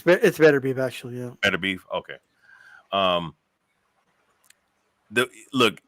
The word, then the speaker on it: Beterbiev: It's Beterbiev actually, yeah.